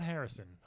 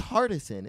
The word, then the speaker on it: Hardison: people be into it not Harrison it's a Carson know you said it right oh okay I think I always thought it was Kadeem Harrison but it's not that those Hardison isn't there DNA there's like horror